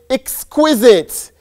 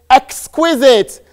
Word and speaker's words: exquisite: The word has 3 pronunciations. First one is exquisite. Second one is exquisite. The last one is exquisite.